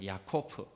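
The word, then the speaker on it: יעקב: 히브리식 발음 야곱의 이름이 야코프입니다. 야코프.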